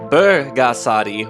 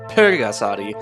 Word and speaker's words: Bulgasari: that's right i said bergasadi with a b as it's properly pronounced not pergasati which the english translation